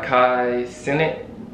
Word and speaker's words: Kai Cenat: is called buzz down rolly avalanche uh by kai senate that's how you say his name uh featuring